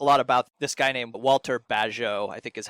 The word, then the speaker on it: Bagehot: He talks a lot about this guy named Walter Bagehot, I think is how his name is pronounced.